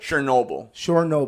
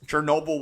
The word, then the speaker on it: Chernobyl: Chernobyl.